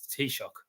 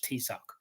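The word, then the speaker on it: Taoiseach: like she literally said the Irish t-shock um but the this trust couldn't even pronounce it she said the Irish tck so um the Irish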